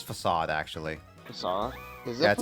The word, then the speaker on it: Facade: You pronounce it Fakeade? I thought it was always Facade. It's Facade, actually.